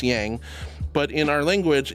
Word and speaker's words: Yaj: Uh, so it's yang, but in our language it's spelled yaj like a y a j and pretty much pronounced as ya yin and ya.